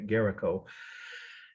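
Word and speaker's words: Géricault: it's actually the artist's last name is garaco or garaco again is how French speakers would say garaco g-e-r-i-c-a-u-l-t garaco raft the title raft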